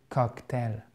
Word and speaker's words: cocktail: Faites attention parce que même si vous avez une diphtongue ici, vous avez votre accent tonique qui est sur celle-ci. OK? Mais il ne faut pas prononcer cocktail. Non, c'est ale. C'est reste quand même une diphtongue.